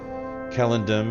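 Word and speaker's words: Celondim: So I do believe that Kellendam and Kellendine are the proper pronunciations.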